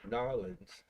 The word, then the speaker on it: New Orleans: And Kelly from New Orleans. Oh, wow. Or as they say down there, Narlands.